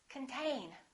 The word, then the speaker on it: contain: one is the same this o is reduced this syllable is stressed contain repeat contain let's look